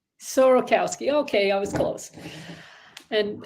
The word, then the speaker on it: Sorokowsky: it up so my first name is sarkowski yeah sir say again sorokowski sorokowski okay I was close and and of course